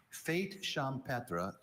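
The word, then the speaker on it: fête champêtre: Fate champra is a singular noun. It can also be pronounced fate champra.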